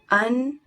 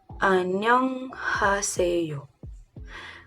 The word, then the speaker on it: 안녕하세요: Let's make it syllables. We have 안녕하세요. 안녕하세요. 안녕하세요. You have to make it fluid, you know? Like, it's familiar to you.